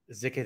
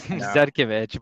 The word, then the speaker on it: Zhitkevich: Zhitkevich. Did I pronounce that correct? I've known you for like 3 years and I don't think I've ever tried to pronounce it. You completely missed it. It's Zhitkevich, but yeah.